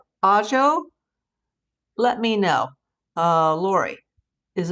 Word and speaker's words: Ajo: It's pronounced Ajo. Is it Ajo or Ajo? Ajo. Because I'm trying to pronounce it the Spanish way, like A is ah.